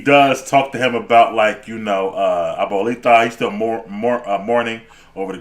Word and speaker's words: abuelita: Yeah, that's Abuelita.